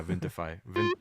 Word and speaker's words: Vintify: I've only, but yeah, Vintify, like vintage.